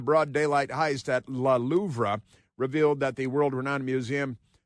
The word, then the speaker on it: Louvre: I like to say Louvre, even though it's Louvre. I know you pronounce it Louvre. The R-E, they're going to be silent like that, but Louvre, why not?